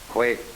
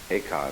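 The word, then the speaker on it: 慧可: Bodhidharma had a pupil by the name of Eka, Huike in Chinese. Eka is Japanese pronunciation, like Zen is the Japanese pronunciation of the Chinese Chun.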